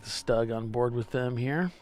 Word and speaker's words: StuG: it the stug st capital G for short stug is how they pronounce it though Bud remember we asked them